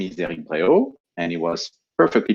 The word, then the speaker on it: Eric Bréhault: My name is Eric Bréhault, and it was perfectly pronounced by Tudor.